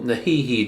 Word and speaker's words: NEHEME: with the you know the little um little nahihi drone uh you know sorry that's the correct pronunciation and before we um we get outside